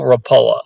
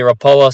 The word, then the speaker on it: Rapala: have is an original rapala some people i say rapala some people say rapula are a variation thereof it's from one of the scandinavian countries if you know exactly